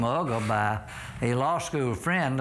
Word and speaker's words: Uga: They pronounce it yuga, but it's pronounced ugger as in mugger.